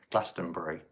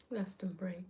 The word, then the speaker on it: Glastonbury: Glastonbury. Glastonbury. Yeah, we don't say berry.